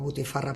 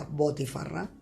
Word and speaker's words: botifarra: Nosotros la conocemos como butifarra, pero allí se pronuncia botifarra, que es una salchicha de carne de cerdo condimentada con hierbas y especias locales.